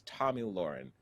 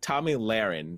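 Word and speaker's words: Tomi Lahren: heard about them is tommy lauren so it's tommy laron sorry to mispronounce her name early audiences came from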